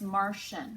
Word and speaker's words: Martian: shoul like crucial okay our next word is Martian we have our shrimp it's two syllables the first syllable we have are the